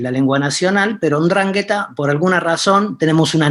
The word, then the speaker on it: 'Ndrangheta: enunciar esa palabra correctamente, no es 'ndrangheta, no es la dragheta, es 'ndrangheta, ¿sí?